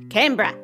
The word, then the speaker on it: Canberra: it's very controversial but the generally accepted pronunciation of this name is canberra fun fact i did